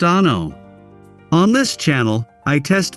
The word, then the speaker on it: ANO: Welcome to ANO Camera, pronounced Ah-no.